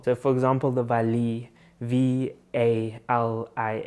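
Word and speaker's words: valiha: for example the valley v a l i h a you would be like oh valia like that's what it's called and they're like no take the ha away so it's just a vali for example and then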